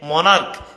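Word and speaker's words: monarch: চ এর মত হয়েছে কিন্তু এখানে মনার্ক সিএইচ এর উচ্চারণ ক এর মত হয়েছে এখন চিকুন করে কিউট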